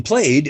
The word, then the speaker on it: played: call it the suffix because in played it's pronounced d and then and then